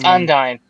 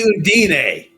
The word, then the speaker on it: Undyne: it's Undyne. Thank you. I say Undine.